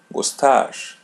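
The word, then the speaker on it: gostar: The letter The letter R is pronounced as English R. Gustach.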